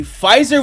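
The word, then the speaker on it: Pfizer: Fizer with a silent P.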